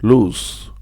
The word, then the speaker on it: loose: not very tight it's loose the pronunciation sounds with an S an extended o with an S loose but when we